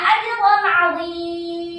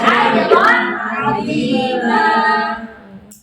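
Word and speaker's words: أجرًا عظيمًا: Jangan bacanya ajran 'azim. Gitu. Kalau ada tanda fathah tanwin di akhir ayat, nggak boleh kita berhentinya ajran 'azim. Salah. Harusnya berhentinya ajran 'azim.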